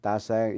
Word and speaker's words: Tasaeng: Ta Sang is spelled Tasaeng.